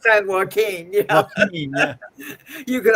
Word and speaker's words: San Joaquin: would come in and ask where the Sancho Aquin was located. No, what? For San what? How do you say it? San Joaquin?